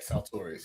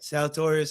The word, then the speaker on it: Saltorious: Is that how I pronounce it? Yeah, Saltorius. You got it. Saltorius.